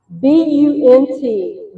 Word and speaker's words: Bunt: BUNT, Bunt Pack, is what they come in. Not a butt pack, a bunt pack.